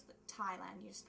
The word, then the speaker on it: Thailand: you mean Thailand no Thailand it's like t h i oh no you don't pronounce the h it's silent so it's the Thailand you just pronounce the